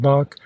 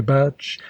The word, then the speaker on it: Bach: thought great things of Bach whom I found out was calling quite incorrectly batch and Mozart who also